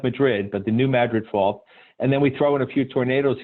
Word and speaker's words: New Madrid: Louis has the second they're actually the most active link earthquake fault in the country it's called the New Madrid fault spelled like Madrid but the New Madrid fault and then we throw in a few tornadoes here and there and you've got st.